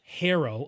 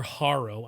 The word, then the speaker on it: Harrow: so this band is called native hero or haro i don't know how to pronounce it native harrow it's h-a-r-r-o-w the album is called closeness